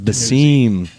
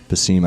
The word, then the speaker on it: Besim: no you're not how do I say it the seam the seam I checked with Chris Warren before I came